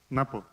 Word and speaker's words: Ngapo: Ngapo is the correct pronunciation? Napo.